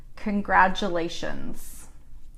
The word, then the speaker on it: congratulations: How to pronounce congratulations. So this is another one where the T sounds more like a D.